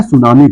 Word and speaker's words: tsunami: देखिए सुनामी का spelling T से शुरू होता है।